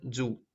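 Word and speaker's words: づ: Вот единственное, что вот этот значок Хирогана читается дзу. Без вот этих двух черточек читается как цу, а так как есть черточки, он означается, читается дзу.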